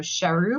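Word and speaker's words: Charroux: visit the village of shahu which is c h a r r o ux and we're going to put all these in the show notes because there's no way you can hear the pronunciation and automatically assume the French spelling well especially when you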